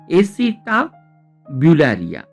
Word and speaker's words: Acetabularia: जो नाम दिया है, इसिता बुलरिया जल कन्या के। स्पेलिंग थोड़ा सा डिफिकल्ट है लेकिन हम उसको जरूर यहाँ पे प्रोनाउंस कर लेंगे। एसिटा ब्यूलारिया, ACETABULARIA, जल कन्या किया।